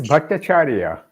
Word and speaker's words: Bhattacharya: You could probably pronounce it better than I can. It is Bhattacharya.